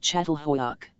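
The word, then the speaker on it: Çatalhöyük: Particularly important, it seemed, was a place called Catalhuk, pronounced Chattal Hoyak, discovered in the 1950s, it was one of the oldest villages in the world ever unearthed, maybe 9,000 years old.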